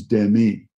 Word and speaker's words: Demi: she had told everyone that her name the pronunciation renamed truely and the French is Demi uh well I looked at the guy and